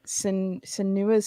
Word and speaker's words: Senua: Senua's Saga Hellblade 2. Is that right? Senua.